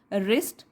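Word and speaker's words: wrist: बार, एंड गॉट अ रिस्ट watch वर्थ 25 rupees, got, उसको मिला इस बार रिस्ट वॉच, W साइलेंट है इसमें, रिस्ट मतलब हमारी कलाई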